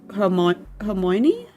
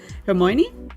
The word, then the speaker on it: Hermione: Hermoni. Because she had like a different name in German. Hermoni. How do you say her name? Hermione.